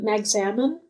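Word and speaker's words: Magsamen: Magzamin.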